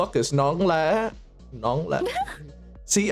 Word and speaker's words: nón: is Nong Nong see I pronounce it like that as well but remember it's non not Nong BR I'm old as